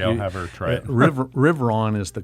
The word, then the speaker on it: Riverain: And he goes, it's actually a French word called the Riveron. And I can't roll my R's. It's, if you speak French, it's beautifully pronounced. Okay, I'll have her try it. Riveron is the correct pronunciation.